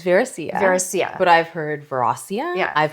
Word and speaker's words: Veracia: So it's Veracia? It's Veracia.